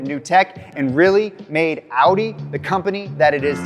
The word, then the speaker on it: Audi: about 5 minutes ago, I've been pronouncing Audi Oddie. That's probably gonna upset a lot of you. I'm just saying right now, I'm really sorry. I'm not trying to be disrespectful. I'm gonna do my very best by saying Audi, but if I slip